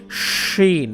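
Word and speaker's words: شين: এটা হচ্ছে সিন, এটার উপরে যদি তিনটা নোক্তা দিয়ে দেন, এই যে নোক্তা দেওয়া আছে, তাহলে হয়ে যাবে শিন। মুখ ভরে একটা উচ্চারণ হবে, শা শা শব্দ করবে, শিন।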